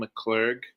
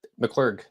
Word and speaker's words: McClurg: Tonight we have McClur. Is that how you pronounce it? Yep. McCclar.